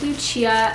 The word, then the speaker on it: Lucia: People either think it's Lucia or Lucia. And I really like the Lucia pronunciation. It's the Italian pronunciation. And I was named Lucia after my grandmother.